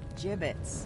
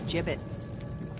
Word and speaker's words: gibbet: hey look Avery had some gibbets left over jbits what it's pronounced jibbit are you sure yeah well no one likes